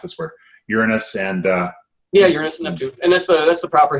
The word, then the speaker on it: Uranus: probes bakkoto it's always a trick how to pronounce us we're Uranus and yeah that's the proper historical pronunciation I